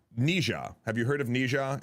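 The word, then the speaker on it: 哪吒: right now is um I'm gonna say the Americanized version of the name, not um I I we had guests in the podcast to tell us how to say it correctly uh in in Chinese. Uh but like I I can't do it. Uh so it is uh Nija.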